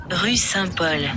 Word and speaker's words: Rue Saint-Paul: buscamos al traductor para que nos diga la pronunciación exacta. Rue Saint-Paul. Rue Saint-Paul.